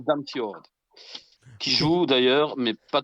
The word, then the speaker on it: Damsgaard: Ah, Ça se prononce Damsgaard.